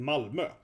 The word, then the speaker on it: Malmö: In Malmö. That's how it's pronounced. Malmö, okay? That yeah, Malmö. Malmö is how it's spelled, the OE, but yeah, what?